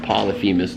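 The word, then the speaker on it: Polyphemus: he goes up against I believe it's pronounced Polyphimas the giant or the cyclops that Odysius blinded and other monsters from the Odyssey.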